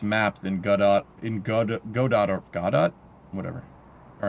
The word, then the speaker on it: Godot: Say it like it's French. Godot, alright.